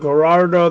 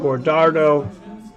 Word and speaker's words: Guajardo: who wins so they spell it Gerardo they pronounce it Gordo and I'm pretty sure his names go hard though but I'm sure if